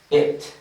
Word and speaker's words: it: Si no diferencias bien estos sonidos, puede que tengas algunas confusiones semánticas en cuanto a la pronunciación. ¿Por qué razón? Porque cuando pronuncias eso, pudieras decir comer, y cuando pronuncias comer, pudieras decir eso. Entonces tienes que diferenciar bien.